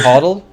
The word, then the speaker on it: HODL: those that hoddle that uh Creator Grant you pronounce it hoddle that's fun hle hdle is the word for